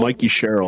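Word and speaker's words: Mikie Sherrill: Here we have the gal that is now, I guess, going to be the governor of New Jersey, Mickey Sherrill? Yeah, Mikey Sherrill.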